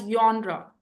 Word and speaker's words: genre: No, it's pronounced as yonra.